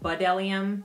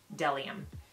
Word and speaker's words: B'dellium: and then del iam it looks like you pronounce it bud Eliam but it's actually del iam so I purchased six brushes from them just